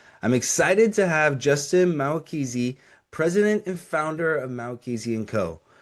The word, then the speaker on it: Mahwikizi: How did you Mahwikizi? say Mahwikizi? Yeah. Mahwikizi. Yeah, yeah, yeah. Okay, Mahwikizi. I remember you said like the H is silent, and Yes.